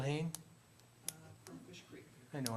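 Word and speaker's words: Hoehn: the last name again I believe it's pronounced ha h o e hn Bill Hayne from Fish Creek I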